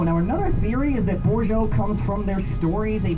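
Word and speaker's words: Bozho: Hello in Potawatomi is Bourgeois.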